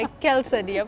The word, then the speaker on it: quesadilla: L because वो Spanish है तो थोड़ा सा प्यार से हम ना पाइया जैसे पालिया नहीं होता, तो there is नो एल बट quesadilla is something that we are doing today.